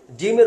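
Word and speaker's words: جيم: ঠিক তেমনিভাবে জিমের উচ্চারণটা একটু শক্ত হবে, জিম।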